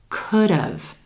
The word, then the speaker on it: could've: It sounds like two syllables. Emphasis on that first syllable and the as in would sound. And listen what happens to the D, could've. It jumps over in front of the word have or the contraction and sounds like dove. Like the second syllable, dove.